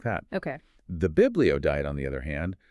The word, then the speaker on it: Biblio: We've kind of nicknamed it the Biblio Diet. It rhymes with paleo. But the key difference is Biblio refers fundamentally to the book, these ancient texts.